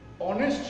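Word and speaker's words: honest: তাহলে আমরা দেখলাম এইচ এর উচ্চারণ যদি অ হয়, যেমন হি ইজ অনেস্ট ম্যান। এখন এই যে অনেস্ট শব্দটা, এটার উচ্চারণ, এই এইচ এর উচ্চারণ হয়েছে অ, এই যে অ।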